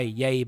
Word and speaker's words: Yahya: Last night, late last night, I was watching Chalk Talk by DK Sports and I was watching Yaya Black. That's how you pronounce his name.